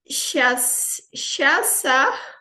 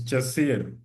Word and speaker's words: Chasia: Shasa, kindly unmute. I hope I've pronounced your name correctly. Shesa. It's Chasir. Chasia, Chasia. Chasir. Okay, Chasia.